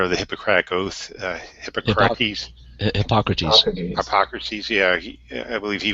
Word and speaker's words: Hippocrates: What's my understanding that epilepsy was once believed to be exactly demon possession, and how do you pronounce his name? The inventor of the Hippocratic Oath, Hippocrates. Hippocrates.